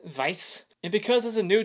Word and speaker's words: Weiss: one is directed by martin weiss or as a dreamers we pronounce it vice and because as a